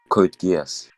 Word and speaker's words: Code Geass: Code Geass.